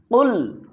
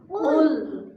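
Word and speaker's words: قُلْ: আমার সাথে বলুন কুল কুল কুল কুল এখানে খেয়াল করুন অনেকে আমরা কুল বলি। এখানে কাফ লাম পেশ কুল এই কুল না। এখানে হচ্ছে কফ লাম পেশ কুল। এখানে যারা কুলহু আল্লাহ বলি এটা ভুল হয়।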